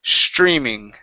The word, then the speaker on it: streaming: word streaming right here instead of stre streaming give me a CHR sound here okay streaming streaming streaming yeah good just like that okay so the sun